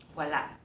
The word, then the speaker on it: walà: (walá na) Just now, Kat read “There is none” as “walà.” She had a slight pause. In the case of “They’re all gone,” the “na” added at the end means “already.” walá na The “a” in this one has no pause but rather connects to the following word.